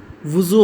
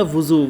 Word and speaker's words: وضو: سے تلفظ واضح کریں۔ وضو، وضو ہوتا ہے، وضو نہیں ہوتا، وضو۔ واو کے اوپر پیش، زوات کے اوپر پیش اور واو کے اوپر جزم۔ ناخن، نون کے اوپر